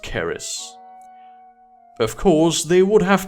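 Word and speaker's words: Kris: but Indonesia has their Chris swordsman now actually it's pronounced Caris of course they would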